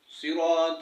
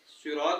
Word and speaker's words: صراط: خاص خیال رکھنا ہے، صراط میں صاد نکالنا ہے، سین نہیں، صاد، اور انعمتا میں بھی